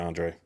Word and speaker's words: Andre: Okay, so the A is silent. My bad, Andre.